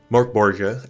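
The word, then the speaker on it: Mörk Borg: And Morborg, as I've been told, is probably the more accurate pronunciation, exists on the opposite end of the spectrum from Pathfinder Second Edition.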